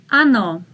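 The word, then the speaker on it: оно: neutral ano ano again if you look at the first or it is not stressed so you say ah ano ano very good let's read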